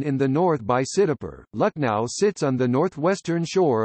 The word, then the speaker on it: Lakhnau: Lucknow is the anglicized spelling of the local pronunciation, Lucknow.